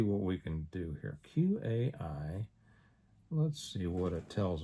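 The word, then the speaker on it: Q.AI: Q AI. Let's see what it tells us. Let's see what those 15 words are, shall we? Q A. And it's it's spelled Q period AI.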